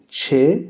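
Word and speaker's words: چ: La lettre suivante s'appelle Che, elle fait le son Ch.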